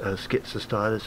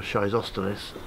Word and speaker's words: Schizostylis: one this is hesperantha you might have known it as schizostylus or shizostylus but now it's called hesperantha